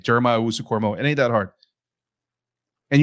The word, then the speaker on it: Jeremiah Owusu-Koramoah: Jeremiah Owusu-Koramoah.